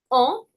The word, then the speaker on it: enfant: And the T I don't have to pronounce, right? Because lipsticks. So what are you left with? Enfant.